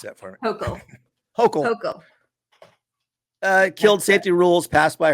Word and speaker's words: Hochul: And it turns out that Holcomb, somebody pronounce that for me. Hochul.